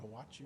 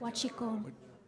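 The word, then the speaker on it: huachicol: And that's, you know, I mean, it's what do they call it, Hawachi or something like that? Huachico. And I never could say it right.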